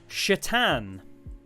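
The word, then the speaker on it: Šatan: can pronounce that uh his surname was s a t a n sat a t a n what does that spell kids that's right chatan guy's surname was Satan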